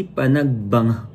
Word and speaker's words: Panagbenga: two What's up guys Good morning and happy Panag banga Yun daw yung tamang pronunciation pagbanga Festival here in Baguio City and